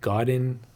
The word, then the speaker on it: Godin: it but yeah I it's called Godin is the right pronunciation it's a Canadian brand absolutely great guitar the